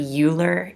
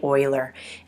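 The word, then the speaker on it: Euler: gentleman named Oiler uh a lot of people say his name to be uler in our part of the country but it's actually Oiler and he was working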